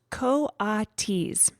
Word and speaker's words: coatis: Brisbane said, reading from the letter, pronounced coatis.